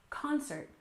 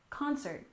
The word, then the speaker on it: concert: next we have concert we stress the first syllable concert concert which is a musical